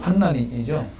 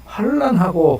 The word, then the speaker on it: 환난: 어느 게 환난이 맞죠. 환난이죠. 그래서 저는 그냥 발음 나는데 우리의 환난을 어쩌고 불러서 조용히 권사님이 목사님 환란하고 환난하고는 다르지.